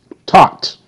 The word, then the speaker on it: taught: Taught. T, ah. Taught. Taught. Same thing. See? The GH is silent. And the T say T. And the AU say ah. The AW ah. And the T T. T ah. T. Taught. GH silent. It makes no sound.